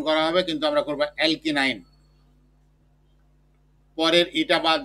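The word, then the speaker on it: alkyne: উচ্চারণটা হলো অ্যালকি নাইন, মানে আমরা যে বলি 8 9 ওই 9, অ্যালকি নাইন, অর্থাৎ অ্যালকিন যোগ আইন, অ্যালকিন আইন।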